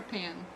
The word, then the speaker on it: paean: Okay, how do you pronounce the word P-A-E-A-N? Paean or Paean? Paean. Okay, that's what I would think.